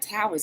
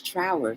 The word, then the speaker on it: Trower: music towers how trower is not towers is trauer sorry about that i've